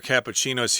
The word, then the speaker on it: cappuccino: topped with cinnamon powder i like the way you order cappuccinos here in taiwan what is it uh kabu well doc and that's all you need to say but uh yeah in english or italian you got to say cappuccino which is a little bit longer to say but in any case